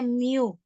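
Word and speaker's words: μ: dibagi dengan Mi mu ini adalah ee eh huruf Yunani ya dibacanya Miu nah Mi itu adalah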